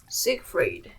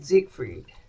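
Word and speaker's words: Siegfried: So this guy these people are um Brun and Sigfried. Let me double check the pronunciation. Ah so um Brunhild and Zigfried.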